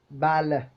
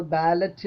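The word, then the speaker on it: ballet: in words such as ബാലഹ് ഇപ്പൊ election ഒക്കെ വരാൻ പോവുകയാണ് നമ്മൾ ബാലറ്റ് എന്നാണല്ലോ പറയുന്നത് ബാലറ്റ് ശരിക്കും ഉച്ചാരണം എങ്ങനെയാണ് ബാലേ ബാലേ ബാലേ കണ്ടോ ലേ ക്രിസ്റ്റൻ നമ്മൾ സാധാരണ ഉച്ചരിക്കുന്നത്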